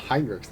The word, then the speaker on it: HRX: you wish traitor side they call them hinr not hrx but hrx is how it's spelled is it it I